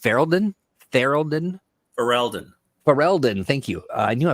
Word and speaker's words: Ferelden: We've got Dragon Age Game Master's Kit, the Dragon Age RPG Quick Start, the Dragon Age Blood in, is it pronounced Ferelden? Ferelden.